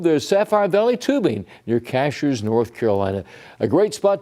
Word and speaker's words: Cashiers: Uh by the way cashers is pronounced cashers, not cashiers.